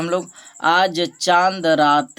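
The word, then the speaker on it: چاند: चांद। नू का आवाज़ जो है साइलेंट कर देना है, जिस तरह से इंग्लिश में पढ़ा जाता है।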